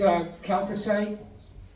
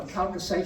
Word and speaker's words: chalcocite: Next is chalcocite. CH is pronounced K for Greek-speaking people.